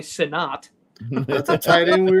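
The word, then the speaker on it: Sinnott: think he pronoun it he may pronounce it Senate I bet he does but it's definitely sinat that's the tight end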